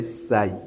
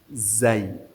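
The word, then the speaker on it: زاي: And do not say say. No. Zay. Zay.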